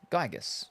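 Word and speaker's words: Giygas: forever tough luck loser pronounce gigus by the way gigus gotcha Gus similar to Gaia Gaia Mother Earth Earthbound it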